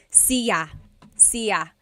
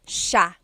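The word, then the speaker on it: siya: It looks like it should be pronounced sa cia, but it's actually pronounced sha sha. So the s i y, it's a sha sound.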